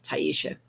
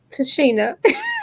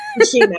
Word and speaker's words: Tashina: At this time, I present to you visionary author, yes, Dr. Tyesha. Tashina. Tashina, I always get your name wrong.